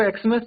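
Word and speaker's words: Xmas: और अगर हम उसको एक्समस पढ़ रहे हैं तो वहां पर आर्टिकल एन का यूज़ होगा।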